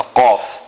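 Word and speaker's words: قاف: Now note the qaf. Qaf must be pronounced from the furthest point in the mouth, right in the back of the mouth.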